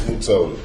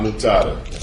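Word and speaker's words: Mutota: It's Mutoda. Mutoda? Not Mutada. I thought you had told me it was M-U-T-A-T-A. No, M-U-T-O-T-A.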